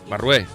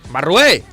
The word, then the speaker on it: Barrué: Barrué, creo que lo he dicho bien. Barrué. El acento en la E. ¡Barrué!